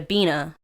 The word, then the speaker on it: Bina: to beena because it rhymes with lena so they'll just call